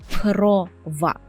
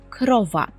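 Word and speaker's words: krowa: ми польською перекладемо як крова крова у польській мові дуже рідко буде ось таке оро оло еле Так зазвичай Це буде просто ро лоле так тобто корова але по-польську крова крова наступне наше слово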